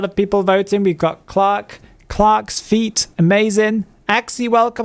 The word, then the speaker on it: Clerk: one uh we've got I believe this is clerk yes this is Clerk or as it's supposed to be pronounced Clark because I am supposed to be British but